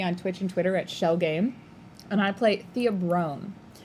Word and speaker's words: Schell: For folks at home, Shell Game is spelled SCHELL. I like every time she says it, I'm like, no one's gonna be able to find it because they're gonna think shell like that's SH.